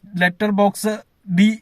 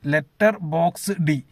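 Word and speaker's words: Letterboxd: ലെറ്റർ ബോക്സ് ED എന്നാണ് എഴുതിയിരിക്കുന്നത്. ലെറ്റർ ബോക്സ് D എന്നാണ് വായിക്കുന്നതെന്നാണ് ഞാൻ മനസ്സിലാക്കുന്നത്. എന്റെ ഉച്ചാരണം ചിലപ്പോൾ തെറ്റായിരിക്കും. ലെറ്റർ ബോക്സ് D ക്ലിയർ ആയെന്ന് തോന്നുന്നു.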